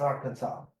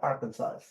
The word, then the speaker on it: Arkansas: And by the way, we pronounce Arkansas as Arkansas, not Arkansas.